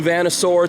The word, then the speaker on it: VanNoisSeur: New VanNoisSeur t-shirt, that's how you pronounce that.